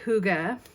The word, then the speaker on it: hygge: brand new collection called Huga season yes h y g g e is pronounced Huga uh and the companion